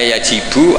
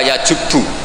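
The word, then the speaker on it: يجبّ: Itu bacanya bukan yajibu tapi apa? Yajubbu aqtu. Lah kalau pas ini kamu baca yajibu kan alislamu te Islam yajibu pusing kamu.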